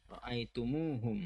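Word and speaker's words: رَأَيْتُمُوهُمْ: Jadi kita akan membacanya sebagai roaitumuhum excellent. Kita akan membacanya sebagai roaitumuhum. Roaitumuhum. Mim diberi damma. Dan kemudian ada tambahan suara "waw".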